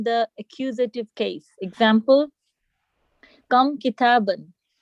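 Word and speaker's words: كتابًا: Now that the noun with tanween in the accusative case takes an alif which is not pronounced, meaning that we don't say kitabaan, we just read it kitaban.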